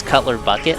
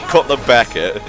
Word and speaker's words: Cutler Beckett: I don't want to say his name wrong again, because I think I said it was Cutler Bucket last time. Cutler Bucket! Cutler Beckett.